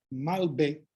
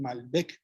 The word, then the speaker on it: Malbec: Y entonces, pues, la uva Malbec, que no se pronuncia la C en Francia, como es originalmente su origen, como es su origen, perdón. Entonces, aquí ya nosotros en Argentina le dicen Malbec, creo, y aquí Malbec,